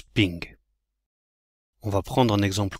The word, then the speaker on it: PNG: format des images PNG mais comme dirait Bernard ça se prononce ping on va prendre un